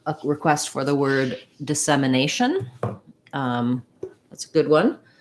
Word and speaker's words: dissemination: can be helpful to start on the stressed syllable so in this case i would just say nation semination dissemination kind of build up that rhythm that helps